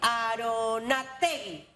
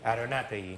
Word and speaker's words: Aronátegui: Abel Aronategui. ¿Lo dije bien? Sí, Aronategui. Aronategui. Sí. O sea que tu apellido lleva tilde.